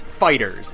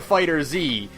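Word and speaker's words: FighterZ: So, Namco Bandai has said it's Fighters. It's Dragon Ball Fighters. Boo. And then Namco Bandai said, but you can pronounce it however you want, we don't care. Oh, well... So I call it Fighter Z, because Fighters is a genre of video game, and saying that I've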